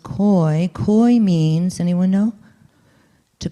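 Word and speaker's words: keu: The Indo-European root for hope is koi, K-E-U, but it's pronounced koi.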